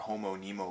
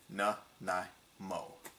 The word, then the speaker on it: Nanaimo: lady asked me for Homo Nemo bars, and when I turned around, I had to just, like, hold in the laughter. It was like, okay. And yet, it's pronounced exactly how it's written. Na-na-mo.